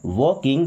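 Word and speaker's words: walking: She means वह वॉकिंग देखिए L silent है।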